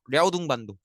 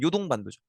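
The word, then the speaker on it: 遼東半島: 처음에는 한반도와 중국의 입구라고 하는이 야 야오등반도 어 이제 중국가 발음으로 야오등반도고요. 이제 우리식 한자로 읽으면 요동반도죠.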